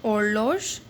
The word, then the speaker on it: horloge: Now jeune horloge, again H is there and it is silent, so jeune horloge means a clock.